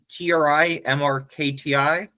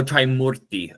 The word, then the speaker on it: Trimurti: Is it TRI MRKTI? Mrkti. Yeah. I realize I'm clearly not pronouncing it very clearly. It's Murti. Oh, Trimurti. Okay. I thought it was gonna be a syllable like mur, Murti. Trimurti. Because in Hindi that would end up Mriti.